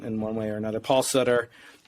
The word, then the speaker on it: Sutter: one way or another Paul Sutter rhymes with butter I'll never make that